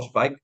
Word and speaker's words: Zweig: A mí el año pasado, por ejemplo, para mí fue un año de Stefan Zweig, ¿no? O Zweig, que depende de la pronunciación en alemán, que fue el año de este autor, y para mí descubrir a Stefan Zweig fue la hostia.